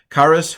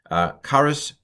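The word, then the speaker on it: χάρις: it by the way this is the erasmian pronunciation it's not it's not really authentic it's certainly not modern Greek but uh it's it's what they taught in seminary for Century Charis humin probably in Jesus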